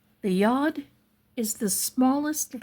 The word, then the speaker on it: yad: So, the word yad, y a d is made of two letters.